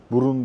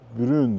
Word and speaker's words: Brun: Kahverengi demek ve Brun diye değil, Brun diye okunuyor.